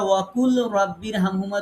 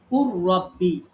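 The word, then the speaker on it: وقل رب: এখন এইখানে তো আমরা ওয়াকুল রব্বির হামহুমা তো পড়ি না। এখন কেন পড়ি না, সেটা হচ্ছে এই নিয়মের কারণে আমরা পড়ি না। যদিও ছিল ওয়াকুল রব্বি, কিন্তু আমরা পড়ি কুর রব্বি।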